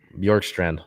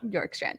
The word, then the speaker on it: Bjorkstrand: have traded f oliver york strand york strand okay so the b is silent okay from the columbus